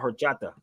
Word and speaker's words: horchata: It's called horchata.